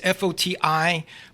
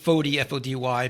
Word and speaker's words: Foti: name is f so it's fot TI but you could pronounce it fod fod y because I'm Americanized I guess Al I'm in Italian uh and so if